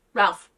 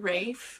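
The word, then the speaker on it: Ralph Fiennes: of the finds Ralph Ralph but doesn't he pronounce it Rafe because he's all like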